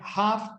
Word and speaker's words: half: Esa L no se pronuncia, es una L muda, silent letter. ¿Cuál? Half. La de half no es half. Half past. Half past. La L no se dice.